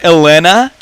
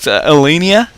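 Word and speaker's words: Ellinia: of them pure on i call it elena which is i know it that's not the way you call it elenia and um and kerning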